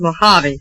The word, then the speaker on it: Mojave: pardon my cuticle but that's pronounced Mojave oh Mojave yeah Mojave anyhow you're not so